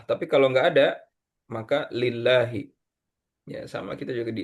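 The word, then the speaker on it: لله: Ah, ini ee kalau misalnya ini kan lafaz Allah ya, tapi enggak ada alifnya di depan, maka bacanya bukan Allah tapi lillah.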